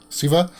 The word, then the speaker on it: Shiva: comment section below that it's not pronounced s h with x sound like the way we speak it's like a c sound like siva now that's i think